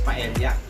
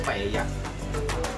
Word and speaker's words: paella: Mostly sa ating mga Pilipino, ang pronunciation natin ng paella is paella. But ang authentic na way how to pronounce it is paella.